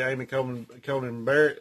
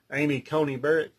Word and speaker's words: Amy Coney Barrett: those judges in there that are republicans especially amy coleman conan barrett or was it amy coney barrett that's how you say it uh in there